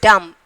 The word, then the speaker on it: dumb: And then dumb, B silent letter.